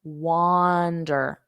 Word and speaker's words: wander: So it sounds similar to the word wonder. I wonder. I wonder. So make sure you don't get that vowel sound wrong. Okay. Wonder. And then wander, wander, wander, wander.